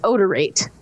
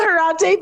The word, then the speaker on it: Odorate: word no it's not odorante because the article specifically mentions that it's a mash-up of the words odor and rate unless it's pronounced rate okay so the company is called odorate which will use science